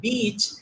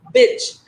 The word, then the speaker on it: beach: Instead of saying beach, they say bitch.